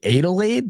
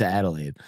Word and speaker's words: Adelaide: lot as well adal Adelide that's like Kool-Aid yeah Adelide is crazy I'm always Adelaide uh but yeah Adelaide